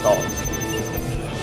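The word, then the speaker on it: 台: Chữ "Thai" ở đây được phát âm là "tāi". Thanh một. Nhiều bạn có thể đọc nhầm thành Tái-châu hoặc Thiên-tái. Thực ra phải phát âm là "tāi", như trong Taizhou.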